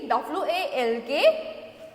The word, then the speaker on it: walk: Next, let's see W-A-L-K, WALK walk होगा, WALK walk, no, WALK walk, WALK walk. So here L will be silent, so we will be writing here, इसका होगा L silent होगा.